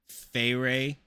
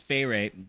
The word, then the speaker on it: Feyre: This is really confusing because I pronounce Feyre the same as I pronounce fairies, like the Feyre.